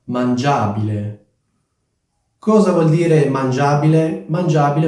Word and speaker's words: mangiabile: abile e otteniamo mangiabile fate molta attenzione all'accento perché l'accento deve essere sulla vocale che precede il suffisso quindi non è mangiabile ma mangiabile Cosa vuol dire mangiabile